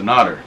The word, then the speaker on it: Nader: all the time and say, man, this guy's a Nader. And that's really how it's pronounced, Nader.